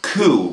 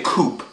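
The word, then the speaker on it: coup: word ku over here c-o-u-p we say it ku we don't say koop we don't pronounce the word p and look at this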